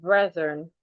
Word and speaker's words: brethren: Please help pronounce the word brethren. Brethren. The TH in that word, you need to put your tongue outside. It makes the voiced TH.